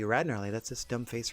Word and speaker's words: Gnarly: about your old pal the silent G rarly that's this dumb face